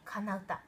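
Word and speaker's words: 愛の歌: 愛の歌と書いて「かなうた」と読むんですが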